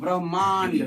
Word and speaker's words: ब्रह्मांड: पहले उच्चारण होगा ह का, है ना। ब्रह्मांड मांड है ना। म बाद में आ रहा है ना। आधा ह है।